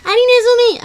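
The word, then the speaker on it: ハリネズミ: nom japonais des hérissons qui se prononce alinezumi alias la souris au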